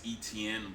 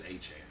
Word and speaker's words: Etienne: Now, you all know him as Travis Etienne, but he came out this offseason that is not his real name. That's not how you pronounce his last name. It's Travis Etienne.